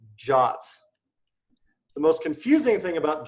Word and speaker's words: JWT: club we're gonna use a token system called jots the most confusing thing about jots is how their spell shot is spelled JWT I didn't come up with it